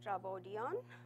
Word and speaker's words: Trafodion: for you guys um trodan stands for transactions in Welch and it's pronounced as trodon um and um that